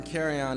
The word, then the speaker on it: Carryon: carryon and if uh most people have a problem pronouncing it so I tell them you know just like luggage and you'll never forget it carryon luggage that's my last name uh I want to